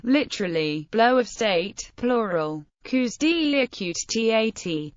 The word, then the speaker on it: coups d'état: Coups deï, pronounced like the singular form, also known simply as